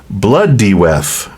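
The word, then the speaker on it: Blodeuwedd: connection and this owl is known as it's pronounced blood deth meaning flower face or the ancient word for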